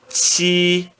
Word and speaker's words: qi: Qi, se você prestar atenção, parece um TX. Se fôssemos escrever em português, seria algo parecido com um TX.